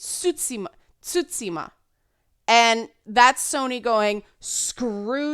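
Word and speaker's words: Tsushima: The T is not silent. So some people are saying it's Tutsima, which isn't, and some people are saying Susima, but it's actually in between. It's Tsutsima.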